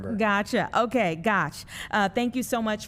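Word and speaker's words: Gotsch: Yeah, it's Gosh. It rhymes with scotch. That's an easy way for people to remember. Gotcha. Okay. Gosh.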